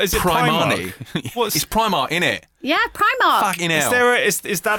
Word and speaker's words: Primark: a definite is that like confirmed cannon I pronounced yes I'm pretty certain Primark is cannon I think where I come from it's pre mark what when you're black you got to shop